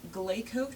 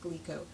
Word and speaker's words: GLECO: sink this is my GCO trap the Glo GCO trap or I think it's actually pronounced gleo the uh trap is